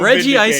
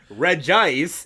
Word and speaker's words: Regice: Oh, I feel so Regi Ice vindicated. is typing. Regi Ice is a pure Why are you ice mispronouncing it?